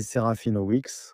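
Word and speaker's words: Serafinowicz: C'est Serafina Weex. Serafina Weex, oui. Son prénom est Peter, Peter. Peter Serafina Weex. C'est ça, Serafina Weex. Lui, la prononciation, c'est Weex.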